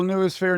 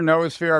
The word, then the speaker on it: noosphere: So first of all, newphere nosphere, I've heard it pronounced both ways.